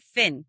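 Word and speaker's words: phin: But in Vietnam, the filter that we use, it's called Finn, but it's spelled P H I N.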